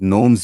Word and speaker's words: GNOME: Gnome stands for no object model environment. Properly pronounced gnome.